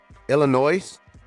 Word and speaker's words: Illinois: All right, Aurora, Illinois. Shout out to Illinois up there. Yeah, that's a sign. Yeah, the S is silent.